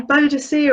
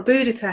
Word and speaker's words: Boudica: You know, Boadicea or Boudica, however you want to say her name, she gave the Romans a pretty good going for their money.